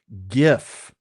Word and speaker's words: GIF: GIF because there's a peanut butter named GIF and it has the J.